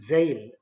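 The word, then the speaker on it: gaol: u r e g a o l is jail just as we pronounce j a i n we should pronounce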